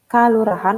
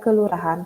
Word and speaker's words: Kelurahan: kata dasarnya adalah Lurah makanya kannya itu ditulis menggunakan bahasa Bali adalah Kalurahan tapi dibaca Kelurahan kalau kacamatan dibacanya kecamatan